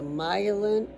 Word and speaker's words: myelin: The word before it is my like mine.